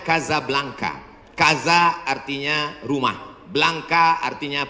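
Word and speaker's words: Casablanca: Nama negaranya Maroko, ibu kotanya tulisannya Casa Blanca. Cara bacanya Kazablanka.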